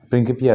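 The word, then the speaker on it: Principia: हाँ, और एमिली बाद में हम लोग देखते हैं कि एमिली की एक बहुत बड़ा काम की, वो न्यूटन का प्रिंकिपिया लैटिन में उच्चारण है ना।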